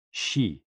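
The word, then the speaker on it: 嘻: And XI, pronounced like shi, which connects the whole body.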